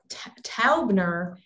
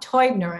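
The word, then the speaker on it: Täubner: that is this this taubner case and what's really max toidner actually is a correct pronunciation there's an umlaut over the a um this is really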